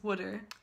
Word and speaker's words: water: For example, water is pronounced wooder, and the word towel is pronounced tal, like T-A-L.